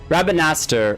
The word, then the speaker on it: Rabanastre: Rabanaster. Oh, instead of Rabanastre, it's T-R-E. Rabanastre. Rabanaster. Deleta and Rabanaster. Delete. I would pronounce it like that.